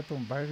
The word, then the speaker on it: Thunberg: Aunque se pronuncia Thunberg y decían por ahí.